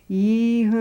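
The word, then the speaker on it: Yonnondio: It truly had a dirge, a wail sound, a lament for the lost. When he said it, it was something like, Yanandio.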